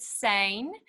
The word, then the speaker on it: Sijnn: pronunciation of that word the name how i pronounce it sein and it comes from um the koi sun